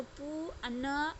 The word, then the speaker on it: पुनः: पू, पह से पू, न अविसर्ग है तो इसको क्या बोलेंगे?